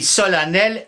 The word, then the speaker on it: solennel: mais puisqu'elle voulait simplifier pourquoi dire a et écrire e simplifier ça fatigue les Romains disaient solemnis mais les sons an et n en latin vont donner en français le son an donc an et n deux son en latin en un seul en français h c'est toujours plus